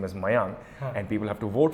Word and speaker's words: Meiyang: not that bad it's uh but they it's mayang and they never get it as mayang they